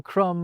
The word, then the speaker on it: crumb: They thought thumb, crumb and limb should have silent B's, like comb, lamb and womb.